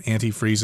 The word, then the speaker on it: antifreeze: got to add some antifreeze in there notice i said that too ways their antifreeze or anti-freeze both pronunciations are acceptable yes and natural gas